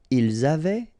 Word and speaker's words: ils avaient: Ils avaient, so look here, E-N-T, you write them, you don't pronounce them.